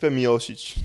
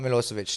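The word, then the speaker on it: Miocic: I pronounce that right I believe it's Ste mosic mosic yeah not milosovic that was someone else well you know different different different uh goals in life you can cut um but uh mosich so creation yeah grew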